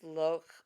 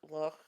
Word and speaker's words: Loach: It's Loach, who is British. It looks like it should say Loach, but but I think it's Loch. Loch.